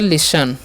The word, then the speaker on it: listen: Next जो हमारा word है LISTEN, तो इसे लिसन नहीं, इसे लिस्टन नहीं पढ़ना है, ठीक है। टी का उच्चारण स कर देना है और इसे ई का उच्चारण नहीं करना, तो हो गया लिसन, ठीक है।